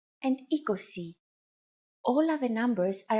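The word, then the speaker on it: είκοσι: you really just have to memorize endica and ecosi all of the numbers are a combination of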